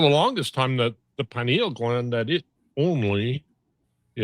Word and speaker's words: pineal: So it's pronounced pineal.